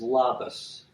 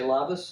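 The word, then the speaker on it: labas: a departure and that that is said is lavas and it's spelled l-a-b-a-s and you want to say lavas and we can end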